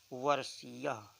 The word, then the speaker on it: वर्षीय: और जब यही अक्षर बीच में आ जाता है, यही वर्ण बीच में आ जाता है, तो ये सा का उच्चारण देता है। वर्षीय, जैसे विषय पढ़ते हैं, विशेष पढ़ते हैं, तो अगर प्रारंभ में न हो करके अन्यत्र किसी स्थान पे होता है तो उसे सा पढ़ा जाता है, और प्रारंभ में